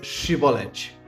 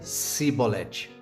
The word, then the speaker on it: chibolete: ele não então diziam dizem pois Chevrolet porém ele dizia se bolete porque não podia pronunciar assim bem então pegavam dele